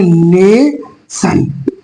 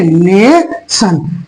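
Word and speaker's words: nation: लोग समझ गए ना क्या पढ़ेंगे इसको पढ़ेंगे नेशन क्या पढ़ेंगे नेशन टी आई क्या पढ़ेंगे इसको ने क्वेन टी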